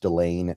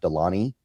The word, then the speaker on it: Delane: I think it is pronounced Delane, not Delany.